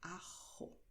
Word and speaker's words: ajo: Y para este vegetal en español tenemos la palabra ajo, ¿vale? Puedes pronunciar fuerte o suave la letra J, como ya lo sabes.